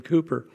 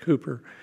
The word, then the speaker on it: Cowper: Way, written by William Cooper. And I know it's spelled Cowper, but it's pronounced Cooper.